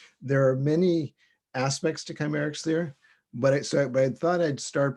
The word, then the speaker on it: Kcymaerxthaere: And so it's pronounced Kcymaerxthaere, just like it looks.